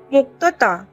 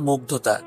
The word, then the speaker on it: মুগ্ধতা: আধো আধো স্বরে জবাব দিল, মুক্তাতা বাচ্চা আমি নামটা ঠিক করে উচ্চারণ করতে না পারলেও বুঝতে পারলাম ওর নাম মুগ্ধতা ওর ঝাকড়া চুলে হাত বুলিয়ে